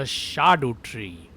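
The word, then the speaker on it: Scadutree: of this tree is the Shadu tree. Or at least that's what its actual pronunciation is supposed to be in Old English.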